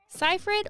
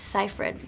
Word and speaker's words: Seyfried: I'm like, it's Seyfried. She's like, it's Seyfried. And I was like, no one says Seyfried, it's Seyfried.